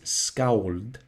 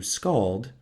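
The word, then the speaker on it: skáld: scold or professional poet now the pronunciation in modern Icelandic is scowled but I'll probably just anglicize it to scald as English is my native language so these masters of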